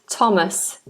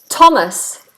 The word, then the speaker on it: Thomas: off here thanked Thomas Thomas is one one of the few words which has a th that is not pronounced as a th the name Thomas is a th that is pronounced as T so we're saying 33